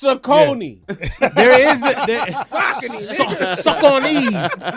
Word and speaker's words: Saucony: It's Saucony.